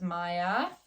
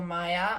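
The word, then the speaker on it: Maja: Otherloops, also known as Maya, I believe. It's like M-A-J-A, but I believe she's from a Nordic country where the J is pronounced like a ya. So Maya, Otherloops.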